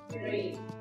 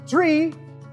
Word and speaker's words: three: Cuando pronunciamos tree, me están diciendo árbol. Cero, one, two, uno, dos, árbol. ¿Cómo se pronuncia el tres en inglés? Se pronuncia con una Z.